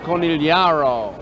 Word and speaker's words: Conigliaro: up tony c tony conigliaro all right bob shepard says it corneliaro here's a pitch swung